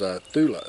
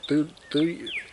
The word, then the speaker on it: Thuya: So, and this wood is Thula. I think it's Thuya. That's how it's spelled.